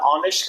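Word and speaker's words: honest: person वो बहुत ईमानदार ऑनेस्ट का मतलब ईमानदार एच इसमें साइलेंट है ध्यान रखिएगा ऑनेस्ट का मतलब होता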